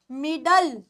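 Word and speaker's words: middle: ए में नहीं जाती एल ई की होती है ल एनई की साउंड होती है ल तो क्या बन गया मिडल क्या बना यह बना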